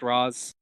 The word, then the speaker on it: Ra's al Ghul: he was back yeah is it Ra's al Ghul oratio I pronounce it race but I think it's actually pronounced Roz like yeah I just think